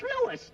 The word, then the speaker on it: Louis: story at the plant Lois Lois my name is Lewis not Lois Jake Williams everybody interpolates me name wrong it's Lewis l o u i s Lois uh Louise